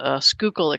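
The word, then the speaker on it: Schuylkill: out west out the skookul expressway and I I've pronounced it for you so you know um local call it the sure kill distress way but it's called the skookul Goes By The skul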